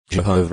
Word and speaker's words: Jehovah: of the Divine name Jehovah is the best known English pronunciation of the Divine name although yahwe is is